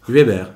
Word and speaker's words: Hueber: Comment on prononce ? Huber, Huber de Casafari.